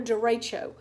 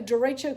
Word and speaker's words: derecho: want to talk about is what's called a derecho which is spelled d ER e CH o d ER